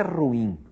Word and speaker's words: ruim: A coisa é ruim, ruim, ruim. São duas sílabas, o e o I se separam. O nome disso, o nome técnico disso é iato, separação de vogais.